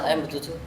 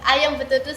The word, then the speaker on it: Ayam Betutu: Bali I really like I am bututuuse is that How you pronounce it I am bututu oke like oh ya it's yeah It's like Ayam Betutu so a oh Ayam Betutu eh it's really it's